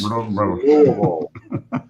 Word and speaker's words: Louisville: Louisville. Put marbles in your cheeks. Louisville.